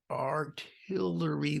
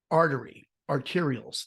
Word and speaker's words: arterials: You're going to deal with traffic on all the artillery roads. That's not how you say it. I can't speak well. Arterials.